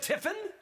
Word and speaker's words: Tiffin: Tiffin? Tiffen? Tiffin. I was close. I put an E where the I went.